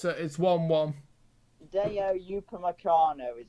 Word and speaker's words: Upamecano: They'll be coming against Diet Upacano. I probably not pronounced his name right, but... Oh, hang on, it's been disallowed. Oh, okay, it's 1-1. Deo Upamecano is how you pronounce his name.